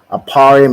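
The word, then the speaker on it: אֶפְרַיִם: ahead T aparium right aparium is how you say ephra in the Hebrew and it means I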